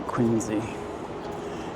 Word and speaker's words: Quincy: If it's a Quinzy, if it's pronounced like the neighborhood, which I got to show several times by a former friend who is from there. I mean, it looks like Quincy.